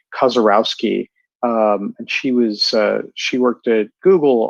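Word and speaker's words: Kaczorowski: I'm trying to remember how to say her last name. It's Kozarowski, and she worked at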